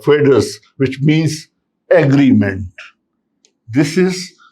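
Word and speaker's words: foedus: See, it has been derived from a Latin word which is pronounced like fedus, which means agreement.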